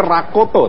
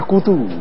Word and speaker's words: Rakoto: Dan juga ada Pak Richard, tulisannya sih Rakoto, tapi bacanya Rakutu gitu ya.